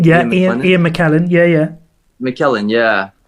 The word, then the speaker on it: Ian McKellen: Yeah, Ian McKellen.